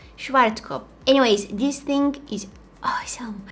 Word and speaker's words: Schwarzkopf: to pronounce this wrong schwarzkopf schwarzkopf i don't think that you're supposed to pronounce the f at the end schwarzkopf anyways this thing is